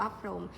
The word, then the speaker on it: พรหม: เรา จำ ได้ ว่า เขียน คำ ว่า พร ผม แต่ อ่าน ว่า พรม เป็น เทคนิค ของ การ